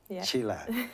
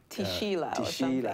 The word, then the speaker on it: Tshila: quite unique there are very few people called chila out there and the way it's spelled t s h i l a if you're not careful you'll probably say tishila yes yeah a lot of people say that they go to sheila but and you know it's